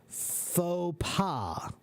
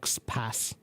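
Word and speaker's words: faux pas: It's pronounced phopa. Phaua. Why is it pronounced phaua? Because that word is French. So it doesn't follow standard English rules of pronunciation. It's not fals.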